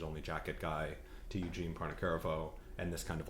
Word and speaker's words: Pontecorvo: She's unimpressed by my pronunciation. I think it's just Pontecorvo.